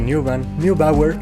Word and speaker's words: Neubauer: De hecho, cuando se descubrió que Neubauer, así se pronuncia, era el dirigente de este experimento, lo